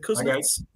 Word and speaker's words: Kuznits: Is it Kuznits? Yeah. Kuznits? How do I pronounce that?